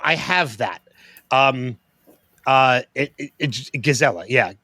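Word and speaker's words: gezellig: Oh, I So I have that um uh gazella. Yeah, gazelli. It's g e ze l i g. But I think he says like it's well it's the Dutch pronunciation right as well.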